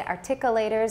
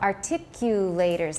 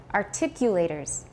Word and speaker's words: articulators: Because a lot of people don't know how to say this. They say articulators, or they say really funny things.So articulators, listen to me say it a few times, articulators, just listen a few